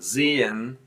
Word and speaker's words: sehen: But in sehen, you kind of slide over it, you breathe it out a little bit because e is following, another vowel is following ha.